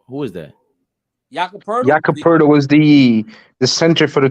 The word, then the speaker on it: Poeltl: one of the first people I've ever heard pronounce Jakob Poeltl. Jakob, who is that? Jakob Poeltl. Jakob Poeltl was the center for the Toronto Raptors.